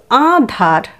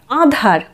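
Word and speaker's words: আঁধার: উচ্চারণটা আমরা কি করব, আধার নয় কিন্তু, আন্ধারও নয়। আধার এটাও ঠিক নয়, আন্ধার এটাও ঠিক নয়। সঠিক উচ্চারণটি হলো আধার। আধার কথাটির অর্থ হলো অন্ধকার।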